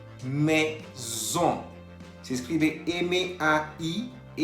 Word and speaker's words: maison: Maison. Maison. Se escribe M-A-I-S-O-N. Tenemos la presencia de la A-I que se pronuncia E y la O-N que se pronuncia ON.